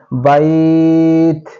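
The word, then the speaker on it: بَيْت: আমরা কিভাবে থামবো এবং এক আলিফ টানিয়ে পড়িতে হবে বাইত এক আলিফ টানতে হবে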